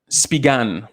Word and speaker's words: Spigen: Yeah, Spigan. So that's how you pronounce it.